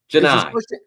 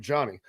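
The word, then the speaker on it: Johni: in the country but that's with and is pronounced joh a Janai say Janai I've been calling him Johnny ji here's Janai uh we let's go ahead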